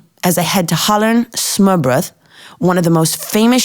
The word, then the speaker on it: smørrebrød: You have to have smørrebrød." Am I saying that correctly? Almost. Smørrebrød, but nobody expects you to pronounce it correctly.